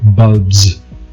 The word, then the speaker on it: bulbs: Bulb, bulbs, z, not a s, z, bulbs.